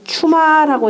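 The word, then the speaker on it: 趣馬: 그 다음에 8장 호분과 철이와 그 다음에 이걸 추마라고 읽습니다. 관직 이름으로 읽을 때는 반드시 추마라고 읽으세요.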